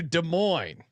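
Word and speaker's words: Des Moines: oh where is it de Moes Iowa I'll give you a second guess de Mo's Iowa beautiful uh beautiful Iowa I believe the I believe the S is silent de Mo Jesus Christ we're gonna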